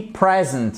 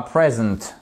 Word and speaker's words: present: Par exemple, on dit present, on dit pas present. Present, le cadeau mais présenter c'est present.